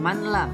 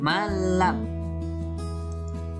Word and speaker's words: malam: Contoh, nun mati bertemu dengan lam dibaca malam. Jadi bukan manlam tapi malam. Selanjutnya idgham bi gunnah dengan simbol yanamu.